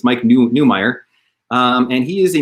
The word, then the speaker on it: Neumeyer: newmeier i was pronouncing neymar because i love german descent so i when i see an neu i when i see an eu i think oy instead of um but it's mike newmeier um and he is